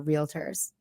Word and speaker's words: realtor: the 90%, 55% are realtors. I know That is you don't know how amazing. to say the word. It's Nick. realtors. Sorry for two syllables.